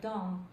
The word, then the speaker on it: dont: Je sais ce dont il a besoin. Are we saying donc or don? Dont. That's it.